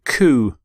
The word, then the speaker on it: coup: overthrow the previous government the word actually comes from the French phrase coup d'etat coup d'etat so for example they